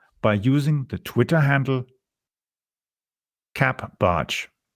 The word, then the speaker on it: capbartsch: You can follow me on Twitter by using the Twitter handle capbarge. It's spelled CAPBARTSCH.